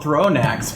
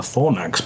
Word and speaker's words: Thornax: Even as this is happening, it's called Thronax because you throw it. Oh, is that? I think it's probably called a thornax because it has thorns.